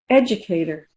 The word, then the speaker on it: educator: So, what color is educator?